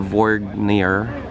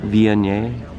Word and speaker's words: Viognier: So our first one is gonna be the Vorgnier. No, what is it called? Viognier? Viognier. That's what how you pronounce it.